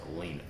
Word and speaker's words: Alina: Trump's attorney um pretty sure it's pronounced Elena yeah I would say yeah